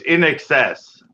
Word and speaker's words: INXS: don't know I just it's in excess spelled i n SX XS yeah I nxs but it stands for in excess lead lead singer died